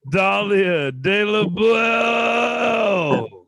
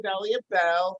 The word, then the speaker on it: Dahlia Bell: give it up for dahlia de la blair wow that was the most complex pronunciation of my name ever but yeah i am dahlia bell thank you and welcome